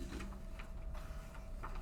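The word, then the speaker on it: Diduch: For the record, Duduc of Katie Law, spelled K-E-V-I-N, D-I-D-U-C-H, and pronounced Duduc.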